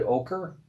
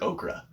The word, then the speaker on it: ochre: Is it ochre? Yeah, it's ochre. I've always heard okra. Well, that's a vegetable. Is it a vegetable? Yeah. I kept hearing it all day today. Okra. They kept saying it wrong.